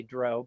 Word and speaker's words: Drow: I say Drow because that's what my eighth grade boy said to me. This sounds like Drew.